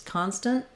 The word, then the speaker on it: constant: because it's that's happening constant I do make my S and my sounds and then this final T sound is just stopping the N short so constant is constant I might let that